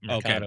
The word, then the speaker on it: Mercado: Mercado, right? Is that how you pronounce it? Yep. Mercado, okay. like the market.